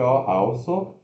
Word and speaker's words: also: Escreve A-L-S-O, also, mas se pronuncia, ó, schwa, após indicando sílaba tônica, O-L, all, S-O-U ferradura, so. Also.